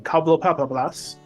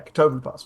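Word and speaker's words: Catoblepas: I outran a Cobblepapablas in the forest one time. Now I'm going to say it wrong. Katoblepas is what I almost said. Yeah, Katoblepas.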